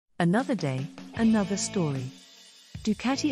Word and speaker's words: Ducati: another day another story ducatti Italian pronunciation du karti is an Italian motorcycle